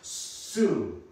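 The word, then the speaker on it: σύ: So for unto you, you in Greek is pronounced su.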